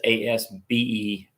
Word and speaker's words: Asberry: Not Asbury like Asbury Seminary, which is spelled Asbury. This is Asberry.